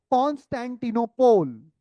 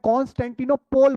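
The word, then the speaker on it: Constantinople: इसको बोलते हैं the fall of कॉन्स्टेंटिनोपोल। The fall of कॉन्स्टेंटिनोपोल। अब मैं कॉन्स्टेंटिनोपोल बोल रहा हूं, लेकिन यूरोप में इसे कॉन्स्टेंटिनोपल बोलते हैं।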